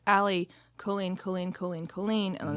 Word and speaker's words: Allie Colleen: we have these rad tank tops and it's ali colleen colleen colleen colleen and on the back it's